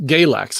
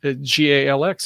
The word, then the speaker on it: Galax: want to say galax galax is the way they pronounce it once you get kind of in the um southern states virginia and beyond the you know i said oh ga lx it's um gay like no that's galax oh okay and we